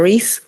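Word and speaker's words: Rese: My name is Ree. It's spelled T U L I S H A.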